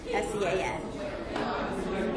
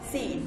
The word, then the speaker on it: Sean: Corey's middle name is Sean, S-E-A-N. Granny refused to pronounce Sean as Sean because that was completely ridiculous. Everyone knows that Sean is pronounced Scene, S-E-A-N is Scene.